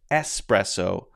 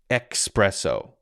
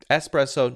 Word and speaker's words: espresso: what's going on in there but anyway it's pronounced espresso not expresso okay espresso not expresso it's not fast okay it's slow coffee is